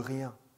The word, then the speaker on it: rien: De rien. De rien. Rien. 네. Rien. 네. 앙이에요. 앙. 이가 있으니까 양.